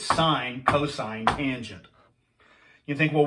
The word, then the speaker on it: sin: Sine, cosine, tangent. The abbreviation for sine is S-I-N. It's not sin, it's sine.